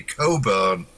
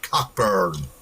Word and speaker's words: Cockburn: If you're British, you say Coburn, but of course, the Americans said cockburn.